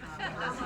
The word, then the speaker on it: Kamala: And then, for those who don't know how to pronounce Kamala's name, we worked on, half of the room says Kamala, and the other half says Kamala, Kamala, Kamala.